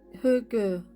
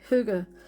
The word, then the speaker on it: hygge: So it's spelled H Y G G E and it's pronounced Hu or Hugu. Yeah. So yeah, Hugu.